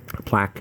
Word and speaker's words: Plack: Okay, my name is Plack, not Plank, like Planck's constant.